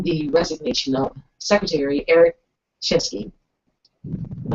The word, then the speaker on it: Shinseki: So that was President Obama earlier this morning announcing the resignation of Secretary Eric Shinsky. Am I saying it right? Shinsky.